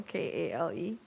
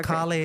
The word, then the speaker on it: Kale: Northern Ring like kale k-a-l-e there's Kali oh right how do you spell his name he's the same oh instead of Kali it's kale kale right no Accent on the E I guess right yes